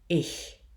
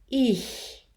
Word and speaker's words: ich: So it is incorrect, even though we write it as an open I, to pronounce the word for I as Ich.